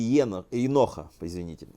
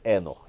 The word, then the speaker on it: Енох: Впервые понятие Алам Хаба встречается в так называемой книге Еноха, а именно в главе 71, в стихе под номером 15. Книга Еноха считается самым известным ветхозаветным апокрифом. Еще иногда произносится Энох через «э».